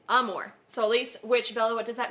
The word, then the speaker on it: Amor Solis: called arm Amor Solis I was about to pronounce it wrong I have taken Latin for nine years ten years so yeah understandable yeah armor it's not armor it's Amor Solis which Bella what does